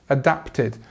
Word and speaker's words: adapted: So adapted, adapted. Again, we have the T and we have the id sound at the end.